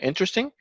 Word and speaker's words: interesting: So we're stressing the first syllable here. And actually I made a mistake. It should be actually inter without the E here. So there is no E. Inter. And sting is actually one word.